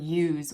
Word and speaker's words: use: That silent E at the end tells that you to say its name. That's why it's use and not us.